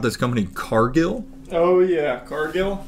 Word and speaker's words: Cargill: Cargill? It's pronounced Cargill. Oh, it's French.